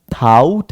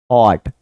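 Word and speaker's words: thought: यह जो है ना थाउट actually it's नॉट थाउट इट्स थॉट थॉट develop यह मैंने पहले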